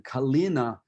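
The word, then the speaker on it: калина: kalina in russian so kalina you've got the um you notice in in measure 38 it's you want to pronounce it sort of a a hard non-palatalized el calina um and that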